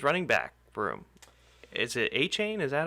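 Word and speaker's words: Achane: uh the Dolphins running back room is it a Chan is that how you say his name apparently it is it is aan aan okay aan though a carries just corrected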